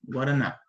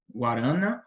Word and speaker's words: Guaraná: Por exemplo, digamos que vocês estão aprendendo português agora e vocês querem aprender a pronunciar essa palavra aqui, Guaraná.